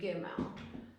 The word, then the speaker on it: Gimel: makes a g sound. G. Okay, Gimel.